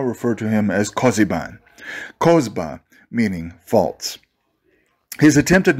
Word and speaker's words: Kozba: After this formidable defeat, they themselves called Kokhba their lost messiah, Kozba, which rhymes with it and has a similar ring. For thus write their Talmudists, you must not read Kokhba, but Kozba.